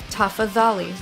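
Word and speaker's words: tafadhali: pronounced the exact same the only exception in pronunciation is the D H mu C D H together it's pronounced like that the th and uh for example toughies Ollie's which means please but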